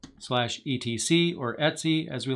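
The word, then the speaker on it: etc: then the file name slash et Cie or Etsy as we like to pronounce it SSH SSH D underscore config which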